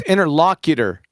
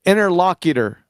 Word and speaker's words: interlocutor: back I was Mison it's interlocutor so I was adding some more syllables to that some it's interlocutor uh interlock a lockal